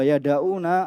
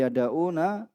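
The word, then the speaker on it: يَدَعُونَ: Ya, wa yada'una ara'ahum, dan mereka apa? Meninggalkan. Ini yada'u yang bacanya ya. Bukan yada'un, tapi yada'una ara'ahum. Mereka meninggalkan pendapat-pendapat mereka.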